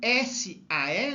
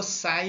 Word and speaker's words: SAE: vai falar ao carbono nós vamos falar só sai 1020 ou então s ae né pronuncia aqui letra por letra sae 1020 ou sai 1020 então isso aqui é